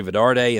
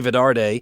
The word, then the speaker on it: Vidarte: plan for success Mary Vidar day and that's VI da arte i'm pronouncing the t the last T like a D and I apologize for that but it's Mary Vidar de VI dar te she's an author entrepreneur